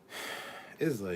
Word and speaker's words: Islay: Islay is pronounced Isla. It's a Scottish island.